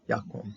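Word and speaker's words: וַיָּקָם: Ve Yakom, okay, Yakom. This is Kames Hatuv, because closed syllable, no accent, so the comments has to be an O.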